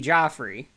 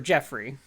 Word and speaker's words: Joffrey: Ruxin says that baby Joffrey... Or Jeffrey. It's spelt like Joffrey.